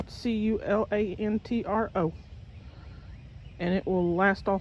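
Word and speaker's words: culantro: It's spelled c u l a n t r o.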